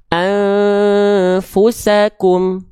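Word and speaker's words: أنفسكم: Dibaca dengan menyamarkan bunyi an, disertai dengung 2 harokat. Mana bunyi an emang ada? Oh iya nih bunyi an. An disamarkan, ditahan 2 harokat. Maka dibacanya gimana? Sambil bersiap-siap melafalkan fa-nya. Siap-siap. Jadi bukan cuman fu enggak, tapi siap-siap melafalkan fa-nya. Tahan 2 harokat.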